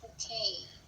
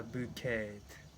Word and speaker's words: bouquet: That is bouquet. A bouquet. Yes. Oh, not bouquet. It's bouquet. Bouquet. Silent T.